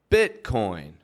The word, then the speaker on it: Bitcoin: with the big ones Bitcoin cryptocurrency notice I'm not pronouncing the T that's in the middle of Bitcoin am I that t vanishes all together I don't say beat beat but instead I put